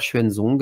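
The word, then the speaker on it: Xuanzong: faire des recherches donc c'est l'empereur schuenzong alors ça s'écrit en je vous le prononce en pignine mais ça s'écrit x u a n Z o NG donc cet empereur a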